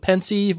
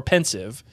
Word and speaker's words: Pensieve: IE supposed to sound it's supposed to be e but the the the fact of the matter is uh is that pensive or pensive is a play on pensive the feeling and then sieve which is the thing that allows you know it allows a flow of whatever is coming out of it right so it's a it's a it's a combination of two words so is it a